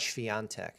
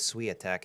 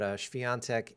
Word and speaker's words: Świątek: I swear everyone in the United States says Swiatek, and that's just like way off. Apparently there's no W in Polish. But Świątek and NIEMEIER, like John Mayer.